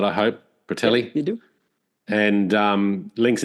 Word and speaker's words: Bertelli: I've got that pronunciation right, I hope. Bertelli.